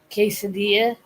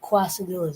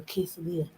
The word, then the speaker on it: quesadilla: As far as the cake quasadillas or quesadilla, I like saying quasadilla cuz it's funnier and I like to say enchilada because it's funnier. So if I say that, you know, that's why I'm saying it wrong because it sounds a bit funnier.